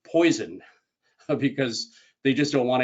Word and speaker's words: Poisson: And I'm giving it kind of a French presentation as Poisson, but I've also heard people say Poisson, and maybe some people might say poison because they just don't want to have anything to do with it.